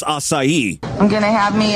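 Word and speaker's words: açaí: Acai trips a lot of people up, but boy, did she mangle that one. There's no N, especially at the beginning of the word.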